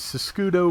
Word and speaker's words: Siscudo: The Siscudo, which is spelled Sisquid in English for some reason, but that has nothing to do with its Italian spelling or pronunciation, It is Siskudo, which means left shield.